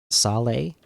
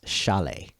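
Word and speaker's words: Šalé: not just Sally the the s in the beginning there uh that's a sh to it so it's Chalet so Chalet was our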